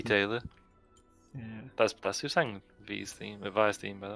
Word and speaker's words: Vi: And Vi. I thought her name was V. Yeah. So... And then I heard her theme song. Here comes Vi.